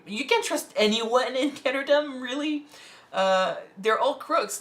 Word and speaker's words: Ketterdam: Now we're switching to Ketterdam. Ketterdam or Ketterdam? Ketterdam. Ketterdam. It's like Amsterdam.